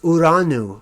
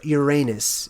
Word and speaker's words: Uranus: Titan whose name is Iran ooh or Uranus if you're unfamiliar with how to properly pronounce it and what he